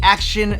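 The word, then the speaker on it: AOCHUAN: So this is the Action Smart X Pro 3-Axis Gimbal. Now, correct me if I'm wrong, but it's spelled out A-O-C-H-U-A-N, and I think they're going for like action, like auction.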